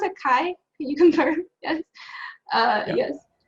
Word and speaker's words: Chi: Is that how you pronounce it? Kai?